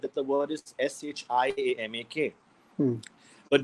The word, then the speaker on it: Shiamak: that the world is Shi a Mak hmm but no one calls you Shama this is Shah mock because I was the I to be silent that's true yeah so the eye is silent as to be ego